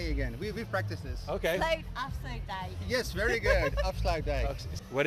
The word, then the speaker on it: Afsluitdijk: She has to pronounce it? She has. Yeah. Well, how do you say it? Afsluitdijk.